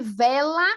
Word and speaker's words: vela: Leonardo disse, a pronúncia de vela é muito difícil. Ó, sopra. Vela, vela, vela. Sopra, né? Vela.